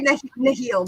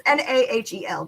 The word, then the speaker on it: Nahel: We say Nihil. I say Nahil, but it's Nahel, the Nahel bond.